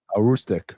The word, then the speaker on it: Aroostook: And, am I pronouncing it correct? It's Aztok champion or Aroostook County, what's up? Aroostook County champion. A Rustic, right?